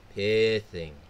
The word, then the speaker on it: Pithing: i copied her um her wrong pronunciation it's pitting not hiding pitting pitting pithing the opponent not doing